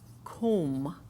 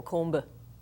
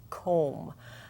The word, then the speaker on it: comb: them for example B when B has an m in front of it the B becomes silent as in comb I will comb my hair we don't go Kumba so it is comb and when it's followed